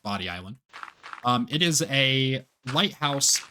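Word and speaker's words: Bodie Island: sense to me, but I'm pretty sure it actually is pronounced Body Island.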